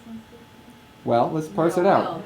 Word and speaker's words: Sanskrit: How do you say Sanskrit? Well, let's parse it out. Please. So I'm going to write it. Say Sanskrit. Sanskrit. Exactly, like sand.